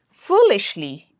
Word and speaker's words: foolishly: Foo is stronger, louder, and longer. Foolishly, normally, hungrily.